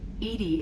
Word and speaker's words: EDI: are you named Eenie Edie is the phonetic pronunciation of EDI that is an acronym